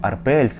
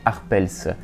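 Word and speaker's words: Arpels: Да, это тот самый бренд Ван Клифф Арпельс. Арпельс, не Арпельс, все-таки бренд имеет французское происхождение, давайте уважать французское произношение, даже если кому-то кажется, что это английский бренд.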